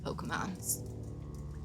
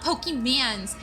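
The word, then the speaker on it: Pokémon: I'm just curious because I still love me some Pokemons. Pokemans. It's funny because I used to get so mad at my parents for saying it wrong. No, it's not Pokemans, it's Pokemon.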